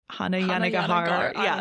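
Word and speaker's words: Hanya Yanagihara: How do you pronounce the author's name again? It's like Hannah Yanagihara.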